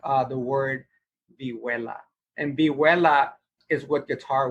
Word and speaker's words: vihuela: But vihuela is Vihuela. Vihuela. Okay. So it's spelled with an H and minus with the double L.